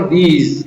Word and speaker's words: these: एस से सामान्यतः क्या बनता है? स बनता है, लेकिन यहां पर क्या बन रहा है? ज, और ई है वो यहां पर साइलेंट है, तो इसको पढ़ेंगे हम दीज।